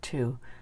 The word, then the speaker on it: two: the tricky part here we don't pronounce this one anymore not in the number two we still pronounce it